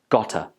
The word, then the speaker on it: got to: In this expression, the word to takes the weak form and it sounds like ta. Then it's linked with the word got. So together it becomes gotta. Gotta.